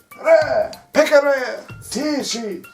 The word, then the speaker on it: Pekaratishi: Pekare, Tishi. Now this is a single E, but you pronounce it as if it were a double, or an I.